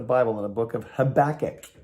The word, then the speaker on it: Habakkuk: in a book of habakkuk not tobacco or habakkuk no it's it's uh it's i almost said it wrong habakkuk it's in the